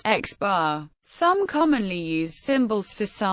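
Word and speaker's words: x̄: x2, xn is often denoted by placing an overbar over the symbol, e.g., pronounced x bar.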